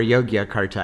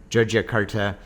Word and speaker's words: Yogyakarta: on a train heading to joia Carta or yogia Carta I think you could pronounce it either way but I think most of the locals pronounce it joia joia Carta um we're actually really